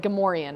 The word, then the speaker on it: Gamorrean: Gamorreans. And it's like Gamorrean, apparently. But no, in my head... I just pronounce it Gamorrean. I don't know whether anybody else does. Exactly. No, Gamorrean is correct.